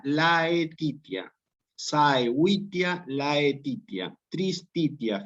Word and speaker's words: laetitia: Para que ustedes pronuncien propiamente saevitia, laetitia, saevitia, laetitia, tristitia. Fíjense, como está escrito, se pronuncia saevitia, laetitia, tristitia.